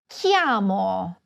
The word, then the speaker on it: chiamo: Repeat after me: Chiamo. It is a hard "c" sound because it is followed by an "h." Just like the word you should pronounce this way: "bruschetta."